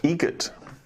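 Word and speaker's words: Eget: How do you say the name? Adam Egget. Egget. Spelt differently. Like the bird.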